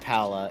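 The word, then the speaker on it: Palla: Oh, right, it's pronounced Paula. Yeah, but it was Paula in the old translations.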